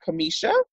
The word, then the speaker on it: Cameasha: you so I want to make sure I'm pronouncing your name correctly that Kamisha yes it is okay perfect thank you so